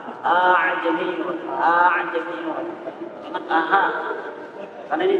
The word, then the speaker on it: أعجمي: A'jami wa 'arabi. Bukan aha. A'jamiyun.